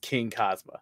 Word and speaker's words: Xing Kazama: Yes, I do have a lot of people who call me Xing, Xing, everything under the Tuscan sun, but it is pronounced Xing Kazama.